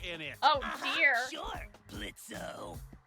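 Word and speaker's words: Blitzø: it oh dear sure blitzo the O is silent now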